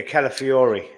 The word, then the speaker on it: Calafiori: Yeah, Calafiori.